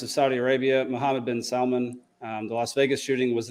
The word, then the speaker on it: Salman: So anyways, Prince bin Talal and Mohammed bin Salman, which I also got to say, that's the only time it's okay to pronounce the L in Salman.